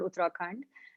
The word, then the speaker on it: Uttarakhand: you are talking about this uh is it uttarakhand have i pronounced that right am i close yeah yeah it's a very beautiful area in uh the himalayan region it's called uttarakhand and it's one of the most touristic places